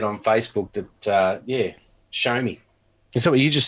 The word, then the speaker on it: Xiaomi: so I'm just said on Facebook that yeah show me and so what you just said shut all